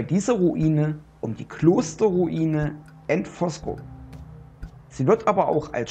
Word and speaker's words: Antvorskov: Schloss und Kirchenruine bezeichnet ich hoffe ich habe den Namen der Ruine forco richtig ausgesprochen mein dänische ist nicht das Beste und ich wollte kein Fehler machen deswegen habe ich meinen meine übersetzera mal gefragt wie man es ausspricht und sie sagte forc und so habe ich es gemacht geschrieben wird es ja anosk und ich hätte es genauso auch ausgesprochen aber wenn die App